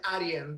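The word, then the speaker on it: Arjen: a r j e r aren but you pronounce it Arian the J is n in in Europe his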